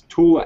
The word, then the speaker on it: Tula: It's Tula ammo from the Tula. It's still Tula. It's still T-U-L-A ammo. Yeah, even though it's called Tool ammo, it's still by Tula.